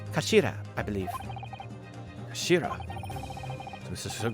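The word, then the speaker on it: 頭: of the hilt it's written as head in japanese but it's pronounced as kashira i believe shira this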